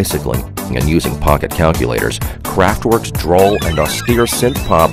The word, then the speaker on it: Kraftwerk: the rock snobs dictionary craftwork alternate pronunciation craft work a cutely German pop